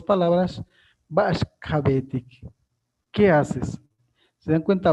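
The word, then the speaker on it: Ba'ax ka beetik: Ba'ash es Ba'ash kabetik, así se pronuncia.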